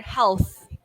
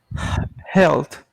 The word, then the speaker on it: health: let's repeat one word health health yes be careful with your th a sound at the end okay okay yeah which